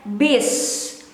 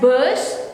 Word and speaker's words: bus: in daily conversation or we pronounce it as E. We read it as bis. But some people might pronounce it as bus or in between E and U.